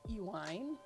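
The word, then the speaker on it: Iwein: about 1190 as the Celtic Arthurian Epic wean pronounced ewine which is how I pronounce it is an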